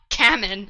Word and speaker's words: Camon: Kamen, not Carmen. Yeah, I No, forgot that's Kate. Carmen. I forgot Cayman existed for sure. That's how it's said in the audiobook, Is by it the way. Cayman? Cayman. Okay, Ew. like the Cayman Islands.